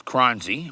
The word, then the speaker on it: Choronzey: Did I pronounce that right? Yes, you did, Darryl. You know, it's Choronzey, right?